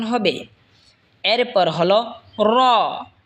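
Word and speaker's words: راء: এরপর হলো র। র জিহ্বার আগার পিঠ তার বরাবর ওপরে তালের সঙ্গে লাগায় উচ্চারণ হবে র।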